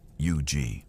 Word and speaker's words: Huger: Guarding it was Brigadier General Isaac Huger. The name is pronounced UG.